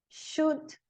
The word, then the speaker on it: should: O L não é pronunciado em cough, talk, could, should, would.